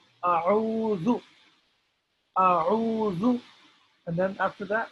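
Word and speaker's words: أعوذ: Uh, that a'udhu is pronounced in three steps.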